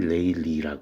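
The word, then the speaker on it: Rayleigh: 이거를 레일리, 발음은 레일리라고 그래.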